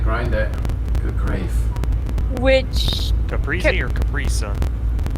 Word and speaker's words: caprese: Which Caprese or Capri Sun? caprese, I pronounce it caprese, but it's probably capresa.